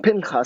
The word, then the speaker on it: Pinchas: of the tent of meeting when piñas it's pronounced pain cos in Hebrew when Pinkus son of Eleazar son of Aaron the priest